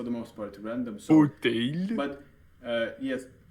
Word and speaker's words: fauteuil: So, fauteuil. but yes, chair or armchair is pronounced like fauteuil.